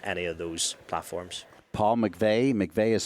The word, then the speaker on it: McVeigh: LinkedIn is the one so just obviously Paul McVey on there Instagram is a good way if